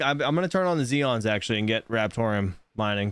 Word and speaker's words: Xeon: You What do said that right, and that's spelled with an X. Oh fuck me. It is. It's Xeon.